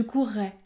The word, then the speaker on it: courrais: courais je vais maintenant prononcer les deux l'un à côté de l'autre je courais je courrais cette consonne qui est prononcée plus fortement s'appelle également la consonne